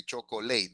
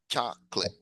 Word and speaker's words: chocolate: Two syllables. Remember, don't say your eyes, you know, say chocolate. No, it's chocolate. Chocolate.